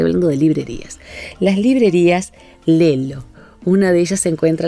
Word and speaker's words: Lello: Si nuestros oyentes o quienes nos ven pueden entrar a las librerías Lelo, se escribe Lello, en Porto, Portugal, son dos librerías.